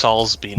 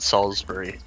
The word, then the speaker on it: Salisbury: the NPCs section oh it's solsby not Salisbury uh yes that was a mispronounce Salisbury like the steak uh and as you